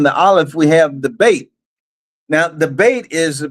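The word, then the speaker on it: ב: Another way you could pronounce the Beit is Vet, of Vav. And so is Ab, or is Av.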